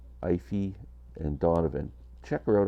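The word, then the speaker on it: Aoife: name of Ivy Donovan it's spelled a o i f e a o i f e that's her first name ify and Donovan check her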